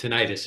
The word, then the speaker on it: tinnitus: things they I think it's tinnitus. Is that how you pronounce it?